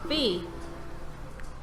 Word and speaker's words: Fe: He is here to take you into the beautiful world of our first EA Originals game called Fear. Fear? Like fear? No, fee.